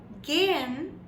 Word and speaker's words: gehen: And the word that I would like to share for G or G is the term gehen.